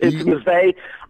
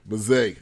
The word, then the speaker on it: Mazzei: Once we got Frank Mazzei, hopefully I got that right, and he is close enough. It's Mazzei, but I've heard it pronounced, trust me, many different ways. Mazzei.